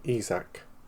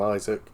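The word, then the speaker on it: Isack: He speaks to Hajjo in French and calls him Isach. Isach. Yeah. But he said he's well aware that if you're English, you pronounce his name Isaac. And to be honest, he's really neutral. He doesn't care if you call him Isaac cuz you're English or we call him Isac because you're French.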